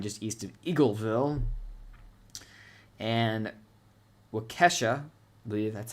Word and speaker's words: Waukesha: And Waukesha, I believe that's how you say it.